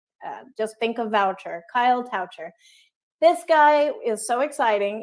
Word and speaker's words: Toucher: guest is Kyle coucher rhymes with voucher just in case you wondered if you see it voucher just think of voucher Kyle toucher this guy is so